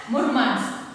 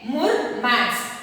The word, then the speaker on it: Murmansk: So you have to pronounce this word as Murmansk, okay, Murmansk, okay.